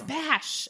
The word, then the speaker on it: Bash: No, it's Bash. It's not Cash. Sorry, it's Bash. Bash? Bastion. Sebastian. Oh, it's Bash. yeah. Okay. Rhymes with Cash.